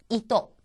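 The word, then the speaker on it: いと: 마지막으로 나온 것은 이또 이또 토라고 하는 것이 처듬이 아니기 때문에 또처럼 들리죠.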